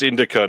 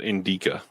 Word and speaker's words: Indica: put the wrong in it's Indica not Inda I put the wrong I put the emphasis on the wrong look at this Sasha